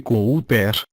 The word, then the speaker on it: Cooper: o admirado locutor Mozart Cooper pronuncia-se Cooper voz de veludo nas